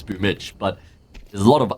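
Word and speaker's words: Boombl4: But you don't see anyone going around calling him Boombla because it's well known it's Boomich.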